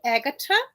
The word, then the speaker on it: Agata: kind of similar to Agata H in it so that's right it's more like of an original Latin pronunciation and originally I'm from